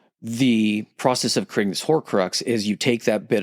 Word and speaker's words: Horcrux: So every Horcrux, pronouncing that right? Right. Yep. Horcrux still has a soul on Earth that's connected to it.